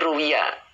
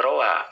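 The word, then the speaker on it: رُوِيَ: fathah ya kemudian e bukan dibaca Rawa Rowa mana ini ruwiya ya ya dibacanya bentuk majhul Pak Rus ya Jadi dibacanya jangan raowa ruwiya diriwayatkan kalau raowa berarti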